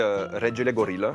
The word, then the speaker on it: Regele Gorilla: La vraie prononciation, en fait, c'est du roumain, donc c'est Regele Gorilla, qui veut dire le roi des gorilles.